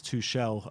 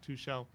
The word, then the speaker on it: Tuchel: A lot of people keep saying to me, it's Tuchel, not Tuchel. Oh, okay. Apparently Tuchel's the wrong way to pronounce it.